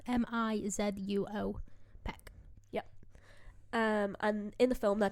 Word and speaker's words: Mizuo Peck: And she's played by Mizu Peck. I might have said her first name wrong. Mizuo Peck.